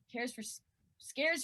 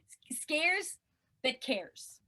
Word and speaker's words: Scares That Care: cares care scares for cares for scares for I'll never say it right I'm gonna say scared for kids cares for scares no that's wrong scares that cares that's what it's called okay and there's one